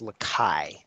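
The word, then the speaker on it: Lacaille: From past topics, I believe it's pronounced Lakai. The L's are silent.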